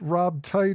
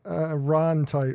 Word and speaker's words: Ron Tite: get in real life last but not least Rob tight is Ron tight right I get your name wrong in the skirt how did that happen